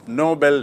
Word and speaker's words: Nobel: तो आपको स्पष्ट याद रखना चाहिए कि नोबल मतलब नेक, नोबल मतलब उच्च श्रेणी का, और नोबेल एक व्यक्ति का नाम जिसके नाम से पुरस्कार है।